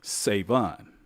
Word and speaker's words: Savon: Oh, Savon, trying to be all proper and Savon is how you say it.